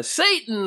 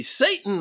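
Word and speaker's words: Seyton: sort of cute and it is spelled a little different but when you say it out loud in uh in a play s-e-y-t-o-n sounds like of course Satan so here it's a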